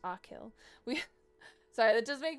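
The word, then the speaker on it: Achill: It's part of County Mayo, one of five counties in the province of Kact, pronounced Akill.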